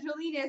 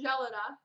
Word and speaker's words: Jalinas: So it's been brought to my attention that Jalinas is actually pronounced Jelena.